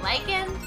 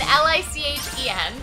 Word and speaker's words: lycan: I was saying lichen, L-I-C-H-E-N. And I was saying lichen, L-Y-C-A-N. Lichen! Yes, it's, we were both right. Whoa, the English language is dumb. Why are both pronounced the same?